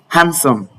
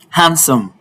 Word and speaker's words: handsome: These are all the words that have the letter D to be silent. Pronounce with me. Handsome. Handsome.